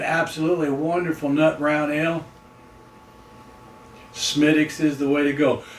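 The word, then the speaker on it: Smithwick's: If I've been drinking uh a Smidix, he probably would have been smacking his lips going, "Oh man, I missed that."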